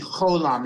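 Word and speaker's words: holam: Holland gives us yeah this isn't this isn't pronounced as a VAV it's it's it's a full version of The Vowel it's it's the holom it's the O so it's foreign let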